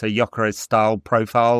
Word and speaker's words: Gyökeres: In Hungarian, it sounds a bit more like Gyökeres. In Swedish, there's more emphasis on the Y than the G, but yeah, it seems anyway.